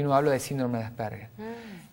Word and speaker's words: Asperger: ¿Cómo se pronuncia? Asperger. Asperger.